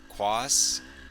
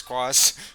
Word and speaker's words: Quas: got by that's ryan quas it's q-u-a-s that's i think it's cross i i feel bad